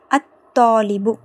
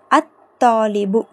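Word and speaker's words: الطالب: அத்தீக்கு last வர்டு பாருங்க அத்தாலிபு அத்தாலிபு சோ இங்கேயும் லாம் உச்சரிக்கப்படல சோ அப்போ இங்க டிஃபரன்ஸ் என்ன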